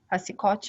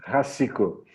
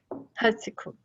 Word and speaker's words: Racicot: Márcio, transfira também o agradecimento, eu já o fiz no início, a Elise Racicotti. Eu pronunciei correto, Márcio? Não. Então me corrija. Racico. Racico. Ok, agora? Perfeito.